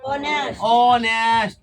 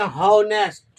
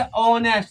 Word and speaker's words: honest: अब ध्यान दे, अगर बाइन केस कहीं हम इसी को पढ़ दें हॉनेस्ट, हो का उच्चारण कर लेंगे तो गलत हो जाएगा, ना हो जाएगा। इसको क्या पढ़ेंगे? ऑनेस्ट।